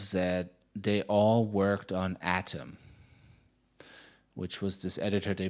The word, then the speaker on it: Atom: had I say it atam by the way I say it atam but they always say Adam and then the transcripts it shows up as Adam so I'm now super tripping up how to pronounce it but you know